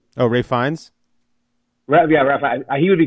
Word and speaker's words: Ralph Fiennes: No, you know who I think would make a good Satan is I'm gonna say his name wrong, but Ralph Fiennes. Oh, Ray Fiennes.